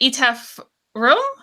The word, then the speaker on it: Etaf Rum: we always forget it's is it ETF room okay that was right the first time I'm sorry we're going